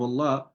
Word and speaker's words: الله: And so because of that, all these two Allah here are pronounced heavily. But because this one here, the lamb that comes before the word Allah, see the li is having a kasra, then the law will be pronounced lightly without you rolling or raising the tongue at the back, right?